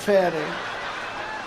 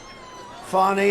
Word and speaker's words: Fani: love it's spelled Fanny it's spelled Fanny like your ass right Fanny but when she became da she decided to add a little French a little fancy fny fonny and you know fonny